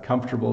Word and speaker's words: comfortable: off with comfortable uh comfortable is uh I think considered hard to pronounce because we kind of mush squish the center of the word together so comfortable this R